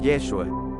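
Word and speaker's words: ישוע: podemos darnos cuenta que la forma de pronunciar su nombre en hebreo es yeshua Qué significa al traducirlo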